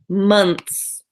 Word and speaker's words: months: said it's been two months that I've been looking for a job so months and this one sounds like M UMT s ma ma months mumps um monks in